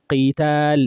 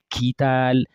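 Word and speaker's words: قتال: So qital is different from kital, so you have to be able to differentiate.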